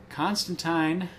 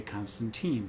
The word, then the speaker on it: Constantine: interested in um uh I will always call him Constantine because he's an Englishman and that's how they pronounce it apparently but in the new